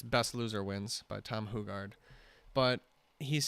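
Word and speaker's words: Hougaard: listening to Tom ho hugard hogard hugard he pronounces it hugard Tom hugard yep like hille yep hugard um and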